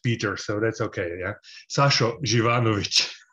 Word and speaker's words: Sašo Živanović: you raphael i will correct you in the pronunciation of my name i will actually also correct peter so that's okay yeah sasho givanovich it's a it's a tough one i know